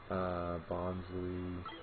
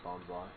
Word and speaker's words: Bonsly: Bonsley. Yeah, it's Bonsly. Yeah, they're calling it Bonsly instead of Bonsley.